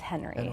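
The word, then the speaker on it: Henri: written in 1923 Roberts I'm told it's Henry I am pronouncing it right okay and he just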